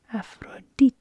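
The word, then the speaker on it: Ἀφροδίτη: D sound and E afrodite is the actual pronunciation in Greek so we've got e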